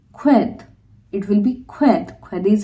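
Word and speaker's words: sked: not ka another example when I'm saying s k e d so when we are using sk with e soft vocal it will be qued it will be qu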